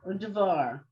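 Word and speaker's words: ודבר: Udavar. What is it? Udavar. It's a separate syllable.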